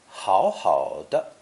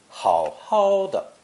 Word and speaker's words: 好好的: is the expression 好好的, which can be pronounced in one of three ways. 1. As written, 好好的. 2. With the second 好 changing to first tone, 好好的. Or 3. Adding the retroflex R sound, 好好的.